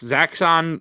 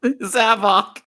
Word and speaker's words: Zavok: Zaxxon, in my opinion, does not because we literally smarter. Just said his name. I said it wrong, didn't I? Zavok.